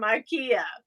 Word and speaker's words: IKEA: Or as they call it in Europe, Ikea. Oh, Ikea. Is that how it's said? Ikea. Okay, so yes. That's like we call Adidas, but it's really Adidas. Yes. In Europe.